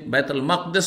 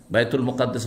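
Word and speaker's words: بيت المقدس: দেখো দেখো কি অবস্থায় বাইতুল মাকদাস পড়তে পারেন মুকাদ্দাস পড়তে পারেন মুকাদ্দাস নয় শুধু বাইতুল মুকাদ্দাস বাইতুল মুকাদ্দাস পবিত্র অথবা বাইতুল মাকদাস এই দুটো উচ্চারণ ঠিক আমার সামনে আল্লাহ উন্মুক্ত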